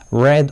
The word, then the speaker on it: read: being read by him notice red although it's written the same as in infinitive but still that's a past participle we know that only in by pronunciation so uh the exciting